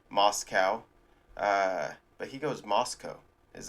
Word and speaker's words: Moscow: Because maybe I'm just weird and it's not typical of Americans like this, but I always called it Moscow. You know, like cow, like moo, like a farm animal type thing. Moscow.